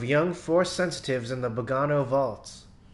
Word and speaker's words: Bogano: Force sensitives in the Bogano vaults. I used to say Bogano, but I started saying Bogano because it seems a lot of people were pronouncing it like that.